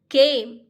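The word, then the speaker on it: came: ख ए म, यहाँ ई को साइलेंट रखना है। क ए म, केम।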